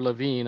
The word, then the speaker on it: Lewin: change refreeze and it's been attributed to kurt lewin or levine as actually pronounced um and or and but if you